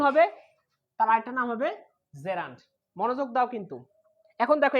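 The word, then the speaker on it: gerund: ক্ষেত্রে এটাকে আমরা বলবো জেরান্ট। কি বলবো? জেরান্ট। আমরা এটাকে অনেক ক্ষেত্রে বলি জিরান্ট, আসলে জিরান্ট না, সঠিক উচ্চারণ হচ্ছে জেরান্ট, নট জিরান্ট।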